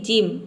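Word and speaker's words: gym: यहां पे देख सकते हैं जी के बाद वाई आया है। यहां पे वाई दिया है। तो जी का यहां पे ज हो जाएगा। आई का हो जाएगा। इ एम का हो जाएगा। म पूरा हो जाएगा।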